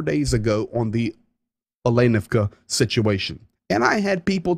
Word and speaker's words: Olenivka: The accent, 99% of the time, goes on the second syllable of the word. So it's not Olenovka or Olenivka, it's Olenivka. Olenivka and the Azov.